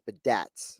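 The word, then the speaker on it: Biadasz: According to this pronunciation, it's Badaz.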